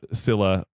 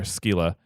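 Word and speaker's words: Scylla: sea monster uh either depending if it's Latin or Greek it's either uh Sila or skila and uh she uh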